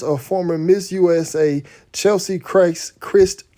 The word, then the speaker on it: Kryst: former miss usa chelsea christ christ is it chris y'all or christ some people say it was christ it's it pronounces chris to me uh was announced on